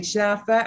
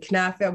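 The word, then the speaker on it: Knafeh: How do you say kenefe? You say kenefe. I say kenefe. I mean, I have a very Lebanese accent. No, because there's people who say chnafa and knafa. We're knafa people.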